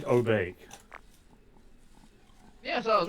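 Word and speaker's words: お化け: Obake? Obake? Yeah, that's saying Obake.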